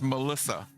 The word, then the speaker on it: Militia: Yeah, this is Waleska from Latin Power going to be going up against it's spelled militia, but it's Melissa.